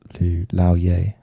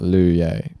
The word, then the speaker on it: Lou Ye: It's not Lu Ye. It's Lao Ye. It's not like Lou Reed.